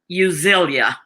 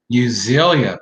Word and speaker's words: Euzelia: And that E is silent, so it's Euzelia. Euzelia.